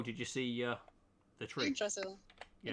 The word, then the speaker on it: Yggdrasil: Yggdrasil. Yeah. It's Yggdrasil. Sweet. I'm glad there's someone that can pronounce that name.